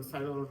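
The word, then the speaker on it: Psilotum: The P is for silo. Cyota is spelled with the P. That's the whispering that you see growing out of of trees, out of rock. So, silo.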